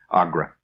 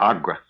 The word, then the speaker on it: Agra: A g- r agra. It's pronounced there. Agra.